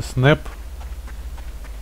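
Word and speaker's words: Snap: Давай, Снап, держись до последнего. А, я только сейчас что-то вспомнил, что у тебя же ник правильно читается Снэп.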